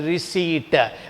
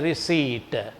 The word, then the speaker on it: receipt: to hear this pronunciation this p is silent this is it should be pronounced as a receipt we should not say receptive the receptor is wrong that is a receipt right and this fellow